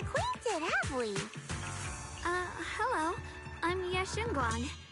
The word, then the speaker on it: Ye Shunguang: I'm Ye Shunguang.